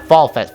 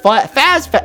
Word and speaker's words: Faz Fest: Yeah, it's Faz Fest, not Fall Fest. Faz Fest.